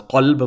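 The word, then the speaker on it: قلب: Qalb, if you don't know how to pronounce the qaf, and if you don't know how to pronounce the kaf, kalb.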